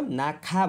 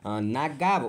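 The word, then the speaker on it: 낙하: यो के हो, नाक्खा भनेको नाग्गा उच्चारण हुँदैन, नाक्खा सागो भन्छ के, सामान खसेर हुने दुर्घटनाको साङ्केतिक चिन्ह यस्तो हुन्छ है, नबिर्सिनु याद गर्नुपर्छ है।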